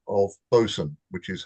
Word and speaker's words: boatswain: But um well done and for the benefit of everybody else although it's spelled BWain it is an old English pronunciation of Bosen which is how how you spell it.